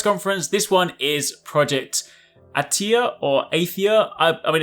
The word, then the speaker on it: Athia: this one is project attea or 8th year I mean apparently is pronounced attea but either way a theá-- attea however you want to pronounce it honestly it doesn't even